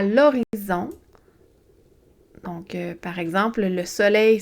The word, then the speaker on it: horizon: À l'horizon. Donc, par exemple, le soleil se couche à l'horizon. Pensez à horizontal, OK? Il y a un H muet, un H au début.